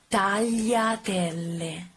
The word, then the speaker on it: tagliatelle: The correct pronunciation is tagliatelle. Y sound. Tagliatelle. Double L. So you have to pronounce it a little bit stronger than a normal L.